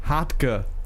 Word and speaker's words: Hartge: Next one, the Heart Gay. It's pronounced Hartge.